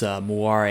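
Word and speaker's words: moiré: pronounce it differently but according to wikipedia it's moira a so this is how it's pronounced in french so hopefully that's right but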